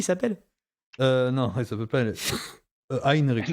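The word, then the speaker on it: Heinrik: Heinrich. Henrik. Heinrich. Ah oui d'accord. Très allemand la prononciation.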